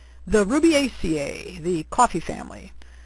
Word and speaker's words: Rubiaceae: the Ruby ACA the coffee family phonetically spelled Ruby ACA characteristics of the Ruby